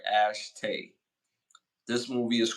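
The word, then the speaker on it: Ashitey: The homeboy from Brothers, and Claire Hope Ash Ashtay. Woo! Got a crazy name, and I know I pronounced that right. Ashtay.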